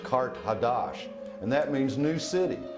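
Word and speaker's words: Qart-ḥadašt: Carthage, in the ancient language, is pronounced Kart Hadash, and that means new city.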